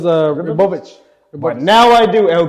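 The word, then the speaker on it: Ribovics: How you say it? Rebovic? It was Ribovich.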